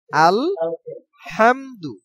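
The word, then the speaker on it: الحمد: উচ্চারণ কারণ প্রথমেই আলহামদু আল হামদু হা উচ্চারণের ক্ষেত্রে এই হা উচ্চারণ হয় আলহামদু আলহামদু হামদু এইটা গলার ভিতর থেকে চাপ দিয়ে উচ্চারণ করতে হবে আলহামদু আলহামদু আলহামদু আলহামদু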